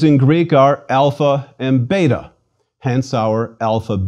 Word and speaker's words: alpha: our own letter A it is always pronounced when long like the a in father or when short more like a it is never ever pronounced like the a in cake or the a in cat please repeat Alpha a